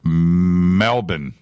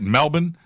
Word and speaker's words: Melbourne: conversation hashtag f2b q Glenn says Melbourne is pronounced Melbourne is that right Melbourne alright alright I you